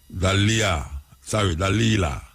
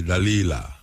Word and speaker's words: Dalila: We have Dalila, Dalila, D-A-L-I-L-A, Dalila.